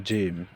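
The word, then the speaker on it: جيم: তার নাম জিম। এখন প্রশ্ন হচ্ছে জিম অক্ষরটি আমরা কিভাবে উচ্চারণ করব? উত্তর জিম অক্ষর জিহ্বার মাঝখান থেকে শক্ত করে পড়তে হয়। অর্থাৎ জিহ্বার মাঝখান থেকে এটা শক্ত করে উচ্চারণ করতে হবে।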